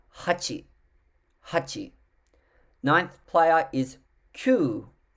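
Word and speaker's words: kyū: the eighth player hachi hachi ninth player is qu spell k y u u q and the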